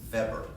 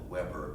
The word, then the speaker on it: Weber: German sociologist named max fabric we would call it Weber but the Germans don't pronounce until he was the way we do max that were German